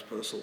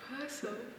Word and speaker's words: Purcell: Isn't it funny that the people at the Purcell School can't pronounce Purcell properly? But it's true, they all can't. How It's Purcell, it rhymes with rehearsal. No way. Yep. Purcell.